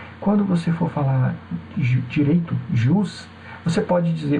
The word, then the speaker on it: jus: Você pode dizer ju privatum como privatum, não tem problema, tá? As duas pronúncias são corretas aí no latim.